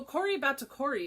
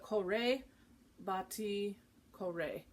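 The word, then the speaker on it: batticuore: bhatti kore kore batikore so kori batakori is how i've been saying it but kore bati kore is how you say it so it's a re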